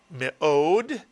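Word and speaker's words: מאד: of a word, and whenever a shva is under the first letter of a word, it is pronounced I, as in the word fish, but it is not a syllable in itself.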